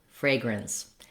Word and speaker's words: fragrance: In this video, we'll look at the words fragrant, flagrant, and fragrance. Help you to pronounce these smoothly and easily in your everyday speech.